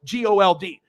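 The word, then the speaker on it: Gould: if it was spelled g-o-l-d hey but if it's g-o-u-l-d and pronounce gold i'll take it but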